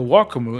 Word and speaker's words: Wacom: Sometimes it sounds like he's going more Wacom, which is how I say it. And other times it's mostly Wacom. But it was interesting hearing him say it because I didn't realize the subtleties of how it's pronounced in Japanese. And I don't speak any Japanese. But it was interesting seeing that there was a difference, right? And I think I heard the wakamu in Japanese, but again, very super subtle sound.